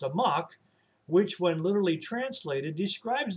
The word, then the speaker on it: amok: amok comes from malaysia there's a malaysian word that's pronounced a mock which when literally translated